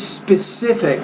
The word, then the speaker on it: specific: specific distance apart so the word is specific put that stress on that third spe the second syllable specific each person has an